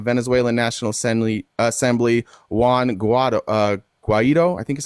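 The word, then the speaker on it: Guaidó: the president of Venezuelan National Assembly, Juan Guaido, Guaido, I think is how you say that, as the interim president of the country.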